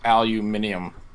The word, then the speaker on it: aluminium: I believe it's pronounced aluminium it is in Britain in the United Kingdom that's how Murat says it yeah hey look you